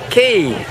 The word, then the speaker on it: Cay: and the word K should be pronounced key but look at this